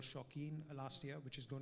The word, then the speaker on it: Shauqeen: So yeah, Shauqeen is an IP that we've started. It's actually a word play. It's show, which is spelled as show, and keen.